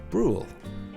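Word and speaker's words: Brühl: word to say i guess that would probably be the easiest way to pronounce the city rule bruh you don't have to sing it bruhl and yes that qualifies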